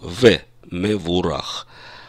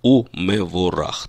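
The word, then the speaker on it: ומבורך: и у него рак в обычной речи мы бы сказали шабат шалом в него урах а по нормам высокого стиля классического иврита древнего иврита мы произносим шабат шалом и мы ворох так как речь идет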